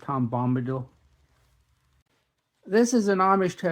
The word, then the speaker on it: Bombadil: usually get that wrong I used to say tomam battle until I heard it correctly Bombadil this is an Amish